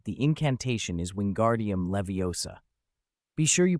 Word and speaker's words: Wingardium Leviosa: As I said, the incantation is Wingardium Leviosa. Be sure you pronounce it properly.